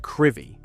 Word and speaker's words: Crovie: Crovie, Aberdeenshire. Pronounced Crivie, this is the most on the edge village in Britain.